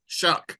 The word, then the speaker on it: Shough: Just want to make sure I pronounce that right. And Tyler, say his name. Shough.